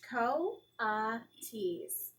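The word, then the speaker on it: coatis: raccoony dogs these are coeties mrs brisbane said reading from the letter pronounced co ah tease the coities looked weird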